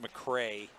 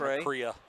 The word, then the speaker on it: McCrea: It's pronounced McCrea, not McCrea.